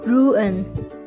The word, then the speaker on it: ruin: นี้ จ ะ อ่ า น ว่ า ruin แ ป ล ว่ า ท ำ ล